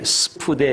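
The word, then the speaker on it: σπουδή: 여러분, 이 부지런이라는 그 헬란 말이 스푸데 이렇게 발음을 하는데 간절함이라는 의미입니다.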